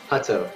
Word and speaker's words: Hutto: Well, let's review the pronunciations in the media guide. It's Hutto, right? Hutto. Yes. Hutto.